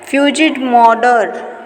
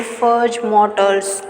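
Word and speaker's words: Fudge Motors: फ्यूजिड मॉडर, फर्ज मॉडर, इसकी अगर मैंने सही करेक्ट प्रोनाउंसिएशन देखी तो वो थी फर्ज मोटर्स।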